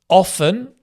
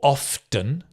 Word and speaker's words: often: Often or often, some people pronounce the T, some people don't.